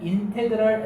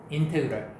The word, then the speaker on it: 인테그랄: 요거 읽을 때 어떻게 읽어 주냐면 인테그랄 f(x) dx라고 읽어요. 인테그랄.